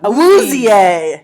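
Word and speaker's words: Awuzie: Round two, number 60, uh, we got Chadobe, uh, Auzier is how they say it.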